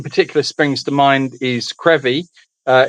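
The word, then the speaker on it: Crovie: Uh one particular springs to mind is Krevy. Uh it's it it's pronounced Karevy, but it's spelled Kravi.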